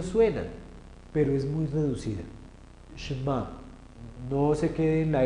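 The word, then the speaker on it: שְׁמַע: Entonces, en el texto del Shema, si se fijan cómo yo pronuncio Shema, se van a dar cuenta de lo que me estoy refiriendo. Y es que Shema empieza con Sheva.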